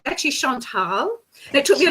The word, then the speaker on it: Chantal: Yes, you did, but I will just, it's about, sorry to interrupt you, but it's actually Chantal.